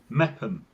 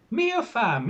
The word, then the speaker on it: Meopham: Meetham. Nope. All right. Mepham. Mepham. Right. I cycled there having never heard of the place. And I was telling people how I had been through this lovely place called Meopham. And everyone's going, where? Meopham, you know, this place, Meopham. Oh, you mean Mepham.